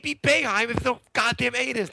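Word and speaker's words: Boeheim: thing okay so Jim beheim unless you've heard his name before there's no way you see his name and pronounce it beheim right there's no a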